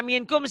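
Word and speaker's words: مِنْكُمْ: Baca minkum salah harusnya. Minkum. Kenapa harus jadi minkum? N-nya harus berubah jadi ang. Kenapa? Karena nun mati bertemu kaf.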